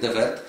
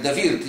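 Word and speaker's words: Henk de Weerd: zrozumieli, my tutaj mówimy, ja się wyraziłem Henk Dewert, natomiast Paweł używa wymowy Henk de Wirt i chodzi o tak tego samego. Po holendersku. Dokładnie.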